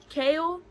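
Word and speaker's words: Chaol: I loved Dorian and Kale. I looked up how to say his name and it said chaos but replaced the S with a L.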